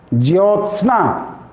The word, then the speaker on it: ज्योत्सना: तो ज्योत्सना, ज्योत्सना उच्चारण से समझ में आ रहा है? लिख सकते हैं? स भी आधा होगा, पूरा अगर स लिख देंगे तो सना हो जाएगा।